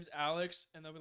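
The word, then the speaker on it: ALEKS: and a s to the end and it's pronounced Alex test so you know that is a insane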